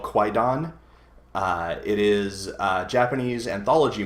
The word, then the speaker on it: Kwaidan: Oh, it's not a Q. Yeah. I was thinking like Qui-Gon Jinn. Oh, Qui-Gon, yeah. It's Kwaidan.